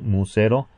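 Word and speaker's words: μ₀: pronunciado épsilon 0 y muse 0 pronunciado musero no son variables sino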